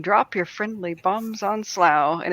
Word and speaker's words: Slough: be from called Slough it looks like Slough I think it's spelled like that but it's called Slough and I said what's